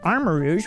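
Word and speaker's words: Armarouge: Okay, on the Scarlet side, which, again, is the past, we have Armor Rouge, which I finally learned how to say. It's Armor Rouge, like, you know, the word rouge, which means red, basically.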